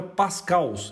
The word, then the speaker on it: pascals: O plural da unidade Pascal é pascals. Eu sei que é meio estranho, mas essa é a forma correta de pronunciar mesmo.